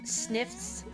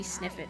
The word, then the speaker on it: Sniffit: I think in Mario RPG I pronounced it Sniffs, but it should be Sniffit, I think, because Sticker Star and Color Splash had a little game show portion called Sniff It or Whiff It, so...